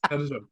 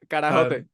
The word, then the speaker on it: carajote: Carajot. Eres un Got that. carajot. How would you actually say it? Carajote.